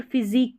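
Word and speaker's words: physique: अब यहाँ पर फिजिक, क्यू नहीं बोलते, फिजिक बोलते, क्यू यू को आप क प्रोनाउंस करेंगे।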